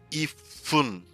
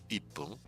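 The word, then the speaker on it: 一分: Like for me, it's ifun is difficult to say instead of saying ippun.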